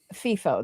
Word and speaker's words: FIFO: But that's a it's a warm water one, so um FIFO, the fly in fly out FIFOs.